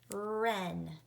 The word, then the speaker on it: wren: We learned today that I can spell R or W-R. R-E. There's a vowel sound that's following so I'm going to spell it W-R. And remember, the W is a ghost letter, meaning we don't hear the W sound.